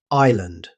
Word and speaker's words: island: Island. This word often catches learners out. Although it's spelled with an S, native speakers pronounce it island. The S is completely silent.